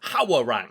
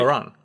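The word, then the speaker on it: Hwoarang: 3 came out, and there's the character Harang, and that's the pronunciation like in Korean. But in like Tekken 3, it's like Hawarang, and that's how I pronounce it. That's how that's how the guy in the commentator for the game announces his name. Apparently it's not. It's like Harang.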